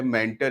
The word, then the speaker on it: mentor: तो इसको हमें समझना होगा कि आखिर क्या होता है मेंटर या मेंटोर। आप कुछ भी इसको बोल सकते हो, इसके उच्चारण से इसका कोई विशेष फ़र्क नहीं पड़ता है। कुछ लोग मेंटोर बोलते हैं, कुछ लोग मेंटर बोलते हैं।